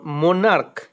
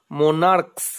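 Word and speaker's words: monarch: একটা এক্সেপশনাল আছে যেমন সি এইচ এর উচ্চারণ যদি ক এর মতো হয় তাহলে নাউনের সঙ্গে শুধুমাত্র এস যোগ করে প্লুরাল হয় যেমন মোনার্ক এম ও এন এ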